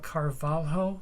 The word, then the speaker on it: Carvalho: When I ask you about the teacher that you studied with, if I can pronounce his name correctly, Elizar de Carvalho.